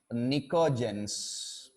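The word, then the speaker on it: pnictogens: nitrogen family also called Niko gence P is silent p ni co ji Heon Niko gence so are this 15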